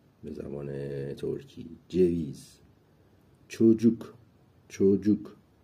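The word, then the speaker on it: çocuk: زبان ترکی جویز چوجوک چوجوک ببینید اینجا ج تلفظ میشه سی به تنهایی ج تلفظ میشه جویز اینجا یه ویرگول اومده زیر سی که چ تلفظ میشه جویز چوجوک یعنی بچه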